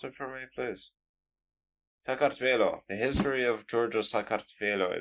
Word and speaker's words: Saakashvili: Sorry, you pronounce it for me, please. Saakashvili.